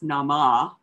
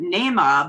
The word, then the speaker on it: Naamah: So I thought it was Nama. But Nema by Sarah Blake and published by Riverhead Books, which is an imprint of Penguin Random House.